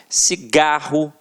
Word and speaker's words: cigarro: Reparem, cigarro, janela, lápis. Então, realmente, a sílaba que a gente proferiu com mais força sempre esteve na penúltima sílaba.